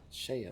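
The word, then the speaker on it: Sheay: Hold Shayla. on. Shayla. Hold on. I need to. Talking about me? Yeah, it's Shaya.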